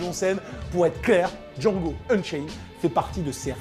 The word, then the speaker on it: Django: Pour être clair, Django Unchained fait partie de ces rares chefs-d'œuvre qui vous font encore croire à la puissance évocatrice du cinéma. D-J-A-N-G-O. The D is silent.